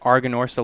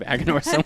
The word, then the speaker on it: Aganorsa: Like I think is it Dave who's known for pronouncing it Arganorsa leaf instead of Aganorsa leaf?